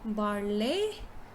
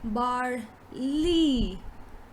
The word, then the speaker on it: barley: lot of us will pronounce it as barley but it is in fact bar lee bar lee so it is bar